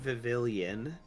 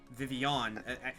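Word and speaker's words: Vivillon: spelled it's spelled vivon so it's not vvillian but because Spanish or Latin pronunciation of the dou L yeah vivon vivon sounds really cool oh my God all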